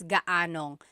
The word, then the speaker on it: gaanong: And then just a pronunciation tip, if you happen to see gaano ang something, it's usually put together and it's gaanong. So gaanong katangkad ang anak mo?